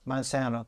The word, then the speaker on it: Monsanto: Monsanto.